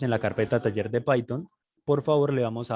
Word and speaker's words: Python: clic sobre ella y listo payton se escribe p y t h y listo una